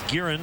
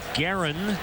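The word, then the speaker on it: Gearrin: Always thought it was Guerin. Apparently Guerin is how it's pronounced. And he will face Addison Russell.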